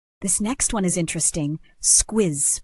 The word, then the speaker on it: squiz: Someone might say, "Have a squiz at the menu before you order," and the double Z just gives it that sharp, buzzing finish.